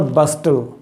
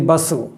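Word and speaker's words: bustle: बसल, अ great बसल, इट इज़ नॉट बस्टल, है ना, इट इज़ बसल, है ना, pronounce it like बसल, टू do things in ए hurried and बिजी वे।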